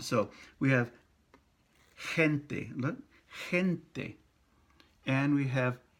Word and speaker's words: gente: So we have gente, look, gente. And we have jefe, he, in both cases. So G-E by itself is pronounced je, gente, jefe, boss, right?